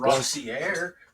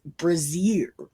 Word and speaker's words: brassiere: Brassiere is a bra, but brazier is not. Brassiere is spelled Brassiere. Yeah, that's what everybody is called brazier.